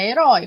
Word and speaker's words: herói: caso aqui ó da palavra herói como eu disse para vocês ela é uma palavra oxítona e por isso o ditongo aberto está na sílaba tônica que a última por isso ela permanece com acento assim como coronéis anéis